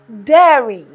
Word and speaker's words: dairy: can be confused with diary but this is dairy the best way to pronounce this to think of hair their hair their Dairy Dairy it has to do